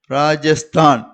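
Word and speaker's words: राजस्थान: அதனால தான் ட்ர அப்படின்னு உச்சரிப்பு வருது. அப்ப ம ஹா ரா ட்ர, மகாராஷ்டிர, மகாராஷ்டிர அப்படின்னு சொல்லுவோம். நெக்ஸ்ட் ஒன் பாருங்க, ராஜஸ்தான்.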